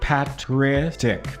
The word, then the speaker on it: patristic: embarrassing okay say it with me pet p patristic patristic patristic NE nectar films we're going to look patristic nectar films is who we're going to have